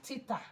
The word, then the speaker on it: theta: It is pronounced theta.